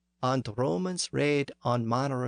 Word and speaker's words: red: the verb here is raid or read the northern poet renders the word phonetically as re D remember that the letter e had the a sound at the time so re D was raid with no inflectional ending